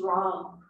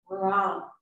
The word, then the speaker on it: Ram: And the seed mantra for this energy center is Ram. Ram. Spelled like Ram, R-A-M.